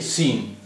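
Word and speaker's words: سین: इसमें सीन जो है, ये सीन, इसका उच्चारण बिल्कुल हिंदी के सा जैसा है, ये बिल्कुल हिंदी के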